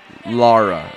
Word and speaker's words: Lara: is ghastly that is just ghastly that's very Laura Croft like isn't it right there Lara I said it right this time two like